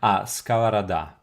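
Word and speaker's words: сковорода: Skavaroda and stress is on the last syllable. Skavarada.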